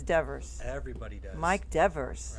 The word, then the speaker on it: Devers: You know, I've been pronouncing your last name wrong all this time. It's not Everybody Devers. does. It's Devers.